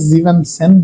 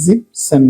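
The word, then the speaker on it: siebzehn: যেমন এখানে জিভেন, জিভেন মানে হলো 7, এখানে কিন্তু আমরা জিভেন সেন বলতেছি না, জিপ সেন বলতেছি।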